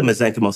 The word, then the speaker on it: mesenchymal: Whereas mesenchymal stem cells, they have a finite ability to grow. So they don't keep growing, which is why they're safe. And so, when we grow the mesenchymal stem cells, the soup that they grow in,